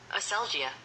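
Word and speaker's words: ἀσέλγεια: Let's get the secretary to say it. Segia. All right. Aselgia. Segia. That's how you say it.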